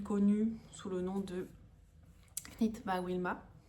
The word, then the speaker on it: Knit by Wilma: sous le nom de Knit by Wilma. Knit by Wilma. J'ai tendance à prononcer le K à la française, hein, bien évidemment, alors qu'il ne se prononce pas.